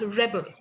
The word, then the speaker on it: Rebel: curious about your name it's pronounced rebel right like much like pebble rebel so we would love